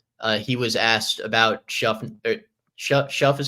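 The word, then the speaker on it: Shough: Shuff is how you pronounce it, right? I learned on Monday it's like shuck, like shuck and corn almost.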